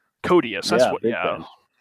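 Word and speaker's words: Koteas: Hogue and Elias Coats. Is that how you pronounce it? You're kind of a fan of his, aren't you? The guy that played Casey Jones. Codius.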